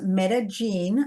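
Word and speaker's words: Medellín: Well, I loved, and it's pronounced Medellin, I was told. Thank you, Medellin. Think of gin and tonic.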